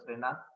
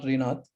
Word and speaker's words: Srinath: Timer, the details for timing details for Toastmaster Srinath are the same. Yeah, 5, 6, yeah, 7. Ridwan, just his name has been pronounced as Toastmaster Srinath, not Rinath.